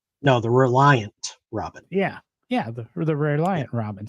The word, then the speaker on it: Reliant Robin: Clarkson on Top Gear when he rolled the re Rena Robin no the Reliant Robin yeah yeah the Reliant Robin see I mispronounced Reliant I'm sorry and and you mispronounced